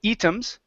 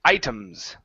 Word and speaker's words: items: here are pronunciations okay the first one you said eems that's going to be I items items a long eye sound items items okay and